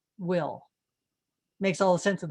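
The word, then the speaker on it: bhfuil: you an example here b h f u i l is pronounced will makes all the sense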